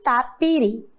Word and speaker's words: tapiri: Tapiri, qual é o som mais forte? Uri. Muito bem, isso mesmo. A sílaba mais forte agora é a última.